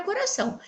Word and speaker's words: coração: sílaba tônica da palavra coração. Então, nossa técnica. O coração! Como podemos ver, a sílaba são é a sílaba tônica da palavra, pois ela foi pronunciada de maneira mais forte.